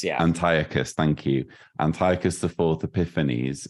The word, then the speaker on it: Antiochus: 11, it's talking, isn't it, about and you pronounced it differently to me. Antiochus IV Epiphanes. Antiochus, yeah. Antiochus, thank you.